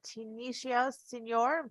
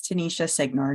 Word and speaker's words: Tanisha Signor: that accurate okay uh Tunisia Senor please correct me if I've said your name wrong welcome the floor is yours hi thank you it's Tanisha signor good afternoon members of